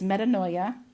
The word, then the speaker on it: metanoia: It's metanoia in the Greek and it's meta like metamorphosis.